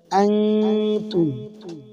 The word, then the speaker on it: أنتم: ওয়ালা আনতুম হামজা নুন জবর আন, নুন সাকিনে বামে তা, ইকফায়ে হাকিকির হরফ। নুন সাকিনকে নাকের ভিতরে লুকাইয়া গুন্না করিয়া পড়তে হবে।